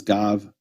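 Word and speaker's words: גב: And then here Ezekiel 43:35 is gav with a soft bet, a weak bet, pronounced v. And this is not a matter of dispute within the entire Jewish world that Ezekiel 43:35 is pronounced gav.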